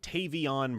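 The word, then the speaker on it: Tavion: what Tavian or sorry, I always want to say Tavian because that's how it's spelled. I'm just going to repeat what Tavon Branch said about his process.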